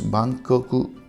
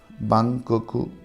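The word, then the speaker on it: バンコク: Instead of L, they pronounce R. So London becomes Rondon. Rondon. Bangkok becomes Bangkoku. Bangkoku. Alright, Bangkoku.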